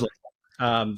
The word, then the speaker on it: Leifer: It is Leifer. So like the German.